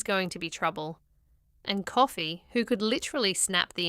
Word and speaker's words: Coffey: He explains his name is Coffey, like the drink, only not spelled the same.